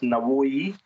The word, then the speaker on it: Navoi: The way it works is somehow there's a taxi service that only goes to a town that's about halfway, pronounced Navoi, it's a city named after one of their poets, philosophers, a Soviet-era city.